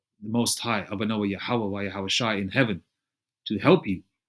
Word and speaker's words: Yahawashi: And that's Yahweh bahasham Yahawashi. All right. According to the Paleo Hebrew, that's how you pronounce it.